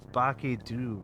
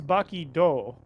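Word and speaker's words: Baki-Dou: an anime appearance in the newest season of Baky Doo, the Invincible Samurai. You familiar with this one? It It's Baky Doe.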